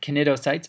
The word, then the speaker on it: cnidocytes: The C is silent, actually, in this. So these are not cnidocytes, but cnidocytes.